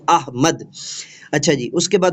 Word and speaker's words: احمد: جانب محمد بشارت احمد۔ یہ لفظ احمد معزز اساتذہ اکرام کبھی نہیں پڑھنا، یہ غلط العام ہے، قرآن پاک کا لفظ ہے، درست جو ہے وہ ہجے اور تصحیح کے ساتھ اس کو پڑھا کریں، احمد۔ اچھا جی، اس کے